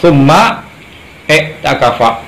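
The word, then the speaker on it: ثم اعتكف: Summa takafa, summa takafa, nanti dibacanya summa takafa azwajuhu min ba'dihi, yang artinya dari Sayyidah Aisyah radhiyallahu anha.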